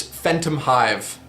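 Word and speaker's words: Phantomhive: By the way, I'm Phantom Hive from the hide and seek party with you. And the last name is just Phantom and Hive put together.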